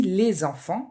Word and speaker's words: les enfants: You see les enfants, but do not pronounce the S at the end of the word, which is a plural, okay?